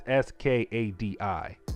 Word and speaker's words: Skadi: I cannot pronounce the name. It's Skadi.